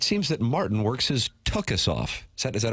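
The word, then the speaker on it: tuchus: In all sincerity, it seems that Martin works his tukus off. Is that is that a proper pronunciation, Jackson?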